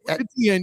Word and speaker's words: Etienne: So your run game, what do you, I mean, I can't pronounce the kid's last name. What is it? Etienne, yeah. Travis Etienne is an excellent player.